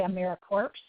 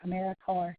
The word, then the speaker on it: AmeriCorps: People say AmeriCorps. It's not AmeriCorps. I know there's a P and an S on the end of it, but it's like Marine Corps or Peace Corps. So you pronounce it Corps, AmeriCorps, not AmeriCorps.